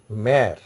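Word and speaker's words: mère: Then next word is mare. Say where this accent, P-O accent grave arrow, M-O accent grave arrow, mare means mother. Say your pronunciation is more flattened. That is, your lips are expanding. When you are pronouncing this word, pear, mare, you see, your lips are expanding. That is, sound is pear, mare.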